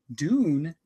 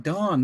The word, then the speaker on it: Don: I'm like, no, I'm gonna pronounce their name wrong, or they're gonna be like Dawn. No, it's Dune. What? Dune? It's D-O-N. Dawn, not Dune. That'd be like D-U-N-E for Dune.